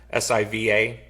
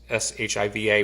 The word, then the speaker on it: Siva: whatever book I had, S-I-V-A. Most people, use S-H-I-V-A, which why to this point people still call this song Siva, which might be the correct pronunciation, but being from Chicago, we said Shiva.